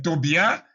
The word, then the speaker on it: Tobia: Et Tobia ou Tobija donc comme il y a pas de J dans la lettre dans dans la langue hébraïque, c'est Tobia.